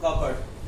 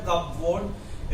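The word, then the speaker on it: cupboard: कबर्ड, इट्स नॉट ए कब वर्ड, इट्स कबर्ड।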